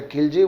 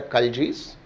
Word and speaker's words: Khalji: Generally we called them as a Khilji, we should pronounce them as a Khaljis.